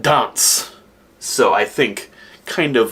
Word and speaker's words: D.H.A.R.N.T.Z.: It is spelled D.H.A.R.N.T.Z, but pronounced dance.